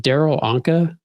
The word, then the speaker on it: Darryl Anka: I think part of your live I was on the other day, you were talking about, is it Darryl Anka?